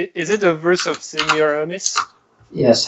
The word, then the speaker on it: Semiramis: it a verse of Semiramis yes how do you is that how you pronounce that sis in me same yeah yeah Semiramis seamlessness that's the pronunciation in French all right where Wow